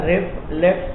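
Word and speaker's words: RFLP: Pronounce is रिफ्लेक्स चइबो आहे, restriction fragment length पॉलीमार्फिज्म।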